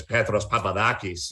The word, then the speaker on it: Petros Papadakis: peter peterson yeah and you're not supposed to say it like i say it but i don't want to sound like this overly pretentious and introduce myself as petros papadakis you know because that's